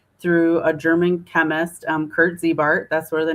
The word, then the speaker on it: Ziebart: It's Ziebart not Zybar.